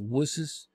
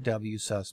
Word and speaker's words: WSUS: server update services ws some people pronounce it was some say ws i like wsus better it saves time and